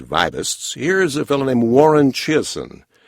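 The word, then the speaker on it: Warren Chiasson: here's a fellow named Warren Chasin. Warren Chasin, some people call him. It's spelled a little differently.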